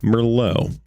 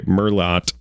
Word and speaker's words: Merlot: We're on chapter 14, Merllo, or as the Americans say, Merlot.